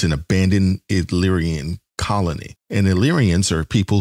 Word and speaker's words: Illyria: This is season 1, episode 3, Ghost of Illyria. I don't know if I said that right, but he'll pronounce it. You definitely didn't. What is it? The Ghost of Illyria. Illyria. Thank you.